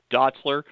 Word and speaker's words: Dotzler: in terms of airing it out you've got Dotzler at quarterback is that the correct pronunciation coach yep Jack Dotzler Boyd 23 touchdowns